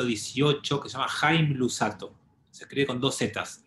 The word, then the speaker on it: Luzzatto: Entonces quiero compartir con ustedes una idea de un cabalista del siglo XVIII que se llama Haim Luzzatto. Se escribe con dos Zetas, Luzzatto.